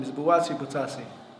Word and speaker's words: Buatsi: I really don't know how to pronounce his name. Is it Buatsi Butasi? Buatsi.